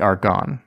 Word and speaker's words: Argonne: like any of these things and it's the argonne argon forest are gone um is it spelled like r-o-r-a-r-g-o-n-n-e yes argon yeah yes it is